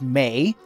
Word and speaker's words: Mae: it my name is Mei my name is Mei I know what it rhymes with spray where I am from